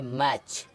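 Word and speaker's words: match: चुका है इसी तरह एम ए टी सी एच तो इसको क्या पढ़ेंगे मैच ठीक है अब इधर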